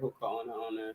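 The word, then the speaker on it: Hoka One One: I can't pronounce this Hawaiian brand. Is a Hoka Ono. Right, Hoka Ono.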